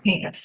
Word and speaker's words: Hinkes: I'm Is it Hinkes? Am I pronouncing that correctly? Hinkes, yes.